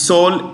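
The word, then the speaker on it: Seoul: South Korea's capital is soul s e o u l s e o u l Soul the E is silent Soul United States we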